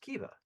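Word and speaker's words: Caoimhe: i c a o i m h e pronounced Kaa because Irish um and Kea is a very inquisitive very um clearly very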